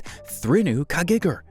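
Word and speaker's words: Þríhnúkagígur: thruno kagegar Iceland if you're wondering how to pronounce it it's thrunu kagegar though it's tough to pronounce this dormant volcano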